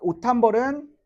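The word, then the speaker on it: 옷 한 벌: 자, 오탄벌은 오 탄 벌 맞지? 오탄벌 이렇게 발음해야 돼.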